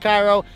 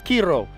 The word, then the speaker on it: Kyro: KIRO Distillery we've learn we've been pronouncing it wrong the whole time it's not Cairo it's KIRO um kind of roll your hearts I guess but we